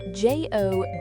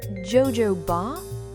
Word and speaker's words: jojoba: It's spelled Jojoba. Is it Jojoba?